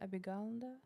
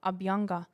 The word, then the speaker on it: Abhyanga: Abhiganda? Oh, Abhyanga. Abhyanga.